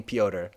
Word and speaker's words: Piotr: So Peter is, so you were right that Piotr is definitely Piotr. That's correct. That's the correct way to say that.